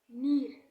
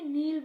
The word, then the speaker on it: নীর: তো আমার রিয়েল নাম হইতেছে নীর। অনেকে নীল বলবে, আমার সাথে বলেন, নীর। আর এর উচ্চারণ নেবেন এন নীর, নীর, নীর।